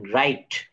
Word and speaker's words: write: আবার একটু খেয়াল করি, শব্দের ডাব্লিউ এর পর এইচ অথবা আর থাকলে ডাব্লিউ উচ্চারিত হবে না। উদাহরণ দেখেন, রাইট, ডব্লিউ, WRITE, WRONG, WHO। Wrestling, এখানে রাইট, wrong, who and wrestling. অর্থাৎ এখানে কিন্তু ডাব্লিউটা সাইলেন্ট লেটার।